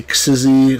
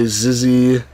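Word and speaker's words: Xyzzy: I used to say Xizzy. Some people say Zizzy.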